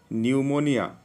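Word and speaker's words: pneumonia: न्यूमोनिया, पी न्यूमोनिया कहते ना, एटा को न्यूमोनिया बोली कहते से पी साइलेंट अच्छी।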